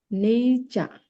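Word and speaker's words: nature: এটা কি হবে সাইট নেচার নেইচা নেচা একটু দেখাই কিভাবে উচ্চারণটা আমরা করব নেই। এগুলা প্রত্যেকটা দেওয়া থাকে সমস্যা একটা দেখি নেইচা এই যে এগুলা হচ্ছে আইপিএস সিম্বল আর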